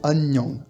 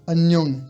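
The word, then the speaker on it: 안녕: celui-là à part que on a deux N qui se suivent deux N qui se suivent et bien on va bien les prononcer les deux AG vous voyez bien que j'appuie sur le N agang anang vous entendez bien agang ça veut dire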